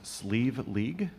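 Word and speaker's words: Slieve League: will now be gratefully received this tune is pronounced sleeve League which some of you may know as the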